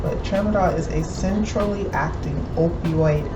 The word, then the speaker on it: tramadol: subscriptions and she was writing prescriptions for tramadol traverdoll is an opioid analgesic okay wait let me say it right because i'm i'm not a veterinarian right but tramadol is a centrally acting opioid analgesic parasite and